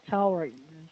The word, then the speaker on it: towards: There would be the Or, W, R, towards.